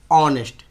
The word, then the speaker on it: honest: ऑनेस्ट, HONEST, ऑनेस्ट मैन। अब ऑनेस्ट के पहले क्या लगेगा? तो एच क्या है आपका? वॉवेल नहीं ना है, लेकिन इसे पढ़िए ऑनेस्ट।